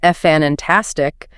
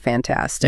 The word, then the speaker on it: fantastic: Like if someone makes a huge mistake at work and you say, "Well, that was fantastic." Stressing the first syllable when it should be on the second fantastic.